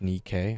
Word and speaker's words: Nikkei: Yeah, it's pronounced Nikkei. I'm like, oh. It just looks like Nike with an extra K.